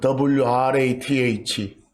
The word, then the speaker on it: wrath: 그 WRATH, wrath라고 읽습니다.